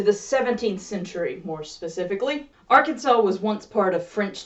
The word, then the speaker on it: Arkansas: Arkansas was once part of French territory in North America.